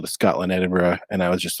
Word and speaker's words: Edinburgh: then he taught me how to pronounce Edinburgh and he says you need to say it like bread and butter that's good that's